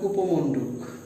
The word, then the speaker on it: কূপমণ্ডুক: দীর্ঘকার দীর্ঘকার, উচ্চারণ হবে কূপমণ্ডুক। শুধু কূপ যদি হয় তাহলে কূপ, কিন্তু এটার সাথে আরেকটা শব্দ যুক্ত হওয়াতে উচ্চারণটা হয়ে গেছে কূপমণ্ডুক।